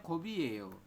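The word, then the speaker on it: 컵이에요: Jadi dibacanya kobiyeyo.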